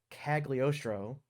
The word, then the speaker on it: Cagliostro: have to read it to say it correctly cagliostro in the comics uh so the comic book